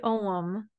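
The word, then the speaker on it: ogham: even use it myself it's called Druid om and om is spelled OG G at WordPress it's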